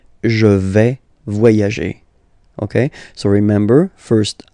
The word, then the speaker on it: vais: First person here, je vais. Remember, final S not pronounced.